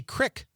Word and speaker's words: creek: says, how we pronounce creek. Oh, that's a great one. How do you say that word? Creek. Me too. But a lot of people in Wisconsin say crick.